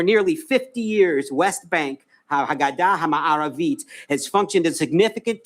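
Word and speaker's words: הגדה המערבית: In Hebrew, West Bank is Haggadah HaMa'aravit. That is how it is pronounced in Hebrew.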